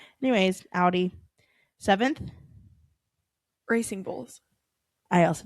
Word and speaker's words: Audi: I always say it wrong. Nah. I think it's because I see the AU. Odd. Anyways, Audi.